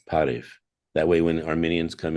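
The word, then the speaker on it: Բարև: refugee, How do you say welcome in Armenian? Parev. Parif? All right. Yeah, it's like kind of like hello, you know. We have to teach all of America to say Parif.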